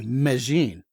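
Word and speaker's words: Medellín: town is as I'm saying it medine actually Meine and if you've ever watched Naros on Netflix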